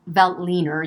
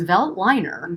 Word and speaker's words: Veltliner: it pronounced um vel veltliner usually v-e-l-t-l-i-n but it's vel liner really um and it is